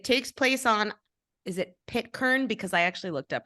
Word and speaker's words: Pitcairn: It takes place on, is it Pitcairn? Because I actually looked up pronunciation. Did I say that right? Yeah, Pitcairn Island.